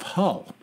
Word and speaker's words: Hull: center of a city called Hull like the hull of a ship and uh for our